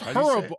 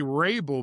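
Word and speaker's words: Hrabal: Now, I don't know Leroy, if you've noticed, Horrible has been signed, and he's going to Tucson. How do you What's say that? it? It's Horrible. I used to say Rabel, but it's Horrible.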